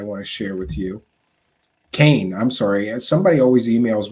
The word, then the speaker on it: Kean: Kane, I'm sorry. Somebody always emails me, and her name is spelled Kean, but somehow she pronounces it Kane, right? Not Keen.